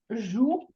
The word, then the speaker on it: jouent: Oui, if you said les enfants jouent, you would have that beautiful ENT that you don't pronounce.